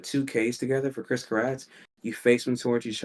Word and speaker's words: Karatz: right it was at first it was pronounced Chris then rest in peace the primary reason guy